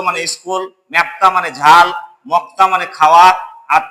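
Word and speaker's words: 먹다: মক্তা বলবো। কেন বলবো? বাচ্চিমে আমি ক পেয়েছি এবং ওপরে দেখছি যে সাংয়ের দ্বিগুত সাং হয়, তাহলে সাং দ্বিগুতে ত হয়। তাহলে এটা আমি পরিবর্তিত রূপটা উচ্চারণ করব মক্তা।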